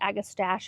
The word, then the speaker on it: Agastache: Okay, so now for the Agastache or hummingbird mint. Some people pronounce it Agastache. I think it depends on your region.